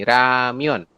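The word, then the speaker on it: 라면: diakhiri dengan n nah penulisannya berarti menjadi seperti ini ramion dibacanya ramion ramion Ya heeh tapi tulisannya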